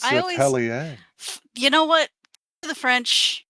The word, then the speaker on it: Atelier: Atelier.